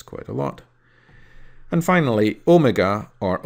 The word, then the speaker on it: omega: And finally, omega or omega is the second of the two Greek letters O.